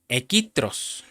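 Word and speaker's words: ἐχθρός: Cuando dice enemigos usa la el número strong 2190 en palabra griega que se pronuncia equitros y quiere decir enemigo, pero también quiere decir adversario y Satanás.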